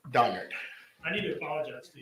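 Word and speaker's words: Donnard: last name uh it's donard d o n n a r d and last name J N all right thank you it's it's donard not Berard donard I need to apologize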